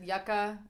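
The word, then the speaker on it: Yuka: I've heard it, yucca. I'm pretty sure it's yucca, but you whatever pronunciation words.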